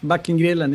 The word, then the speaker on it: Backengrillen: It's the right pronounce? Yeah, that's great. Backengrillen, yeah, that's Backengrillen.